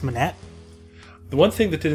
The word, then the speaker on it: Monet: That's pronounced Monet.